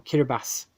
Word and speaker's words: Kiribati: D French Guiana and Kiribati or Kira bass keeps getting there the correct pronunciation on that one went through Wallis and Futuna and st.